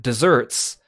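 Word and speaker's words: deserts: And so it's spelled like desert, like the arid land desert, but it's pronounced like the sweet word dessert.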